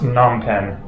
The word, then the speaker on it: Phnom Penh: Oh yeah, nonpen I think it is actually just pronounced nonpen is looking really really interesting.